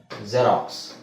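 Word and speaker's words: Xerox: okay ಸ ಇದು ಜಾನನ್ ಅಂತ ಹೇಳಬಹುದು ಇನ್ನೊಂದು ಪದ ಕಾಮನ್ ಆಗಿ ಗೊತ್ತಿರೋದು ಎಲ್ಲರಿಗೂ ಗೊತ್ತಿರುವ ಪದ ಜೆರಾಕ್ಸ್ ಜೆರಾಕ್ಸ್ ಅಲ್ವಾ ಜೆರಾಕ್ಸ್ ಅದನ್ನ ನಾವು zಡ ಉಚ್ಚಾರಣೆ ಉಚ್ಚಾರಣೆ zಡ ಅಂತ ಹೇಳಬೇಕು ಬರಿಬೇಕಾದ್ರೆ x ಅಂತನೆ ಬರಬೇಕು ಪದದ ಸ್ಟಾರ್ಟಿಂಗ್ ಅಲ್ಲಿ ಬಂದ್ರೆ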